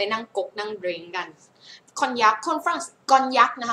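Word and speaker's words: Cognac: คะ ชื่อ ยี่ห้อ มา กอน ยัก นะ คะ เสียง นี้ เสียง เย เ กอน ยัก กอน ยักษ มา หรือ กอน ยักษ โอเค นี่ ไง นะ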